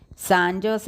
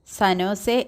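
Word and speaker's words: San Jose: വായിക്കുന്നത് കണ്ട് അരുൺ തിരുത്തി സാന്റോസ് എന്നല്ല സനോസേ എന്നാണ് ഉച്ചാരണം ജാ സൈലന്റ് ആണ് സായിപ്പ് ആയിരിക്കണമല്ലോ ശരി സാന്റോസിനെ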